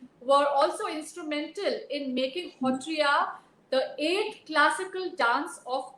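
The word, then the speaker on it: Sattriya: Assam's own Hotriya Nritya, which is spelled as Satriya, Satriya, but it's pronounced as Hotriya.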